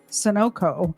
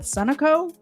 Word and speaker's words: Sunoco: pumping gas at the Sunoco. I always in my head call it Sunoco, and I know that's wrong. It's pronounced Sunoco, isn't it?